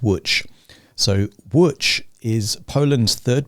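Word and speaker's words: Łódź: go Lots is pronounced witch I would not have guessed that from looking at the the letters it looks like ELO Diaz but it's pronounced witch so which is Poland's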